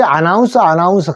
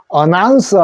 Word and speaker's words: announcer: 이 알은 그래서 우리 아나운서 하는데 요 알을 어로 발음해 주십시오. 그래서 어나운서 하는 말이 우리가 보통 아나운서입니다.